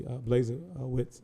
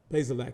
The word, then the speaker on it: Bazelak: Obviously, Blazewicz is, did I say his name right? Bazelak, excuse me. Bazelak, I want to make sure I correct myself. Bazelak is more of a pocket passer.